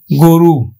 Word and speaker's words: গরু: রস্বইকার আছে, তাহলে আমরা উচ্চারণ করব কিন্তু গয়কারে গো আর রয় রস্বইকারে রু, গরু।